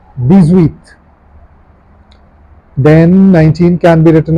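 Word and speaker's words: dix-huit: So how do you pronounce it? The zweit. The zweit.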